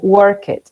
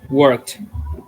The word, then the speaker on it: worked: Entonces decimos, por ejemplo, work it y no se dice work it. ¿Cómo se diría esa palabra? Según la regla. Worked. Very good. Worked with T, right?